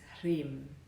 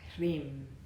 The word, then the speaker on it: Hrim: But when pronounced together with the R, the emphasis lies on the R, Hrim.